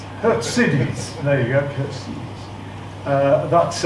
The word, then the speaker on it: Khurtsidze: I'm told that is the correct pronunciation. It should actually be Khurtsidze. Khurtsidze.